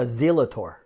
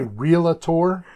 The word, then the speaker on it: realtor: And it's not a zealator, right? It's not a zealator. Yeah, there is no, and there, when you say realtor, it's spelled R-E-A-L-T-O-R. There is no A. Tor. There is no A in there. R-E-A-L-A-T-O-R. It's real tor.